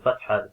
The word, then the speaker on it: fathah: So yeah, so for the fathah, keep it short, yet keep it smooth as well, and not opening your mouth too wide.